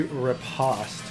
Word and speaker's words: riposte: I was pretty sure the actual pronunciation. You said it's supposed to be riposte.